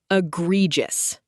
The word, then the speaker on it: egregious: Egregious, pronounced e-gre-gious.